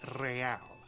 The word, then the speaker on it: real: You owe me 130 real. He pronounces it with the R with a mock aristocratic accent.